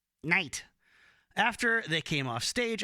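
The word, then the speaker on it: Nite: and roll all night I have to pronounce it that way when it's spelled n-i-t-e night after they came off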